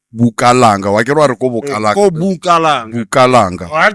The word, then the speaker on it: Bukalanga: Why can't I go Bukalanga? Go Bukalanga. Bukalanga. I have to say, like, pronounce it right.